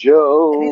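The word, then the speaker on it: Jho: Well, she is a Joe. All right, there she goes. She says in Asia it's pronounced J-H-O, Joe. Did you see what she put? She put in Asia, it's pronounced Joe.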